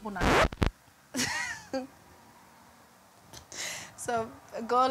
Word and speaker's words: Nandi: Nandi's a bit harsh. Yeah. It's the D part. I can't pronounce the click. Yeah. Because there is a click.